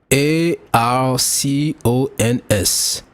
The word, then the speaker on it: archons: The word a r c o ns is pronounced as ar cons with emphasis on the first syllable. are like an arc and cons like in icons without the eye.